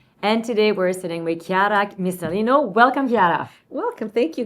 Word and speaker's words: Chiara Missalino: And today we're sitting with Chiara Missalino.